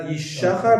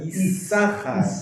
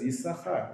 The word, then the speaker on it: Yisachar: It's pronounced with an S sound instead of a sh sound. So as in English, it says Yisachar, right?